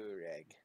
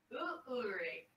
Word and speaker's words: Ulrich: Ulrich, you have to put the extra syllable in there. Urig. Ulrich.